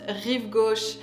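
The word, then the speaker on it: Rive Gauche: Parisian of all perfume this is of course reev go pronounced re go by Ison and re go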